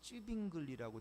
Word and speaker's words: Zwingli: 그래서 유명한 종교개혁의 중요한 인물이었던 루터를 비롯해서 그 다음에 캘빈이라든가 zwingli라고 하는, 한국말로 보니까 쯔빙글리라고 돼 있는데, 어떻게 그런, 원래 그 오리지널 발음이 가끔 한국에서 나와요. 원래 미국 발음은 너무 굴려가지고. 근데 저는 zwingli라고 배웠는데, 쯔빙글리 뭐 이런 사람